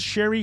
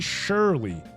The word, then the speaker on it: Sherry: He pronounces Sherry Shirley. That's That's just the wrong pronunciation. That's just That's it has an extra L.